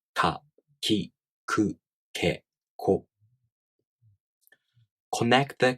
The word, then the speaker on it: き: In this case, you move your tongue a little forward for ki. Ki. Ki. Ki. With that in mind, let's try again. Repeat with me. Ka, ki, ku, ke, ko.